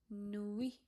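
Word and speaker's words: nuit: So Ui will be like we. So it become noi noi. Soi means night.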